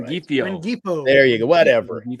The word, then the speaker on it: Rengifo: Ringfingo? I never say his name. Right. Rengifo.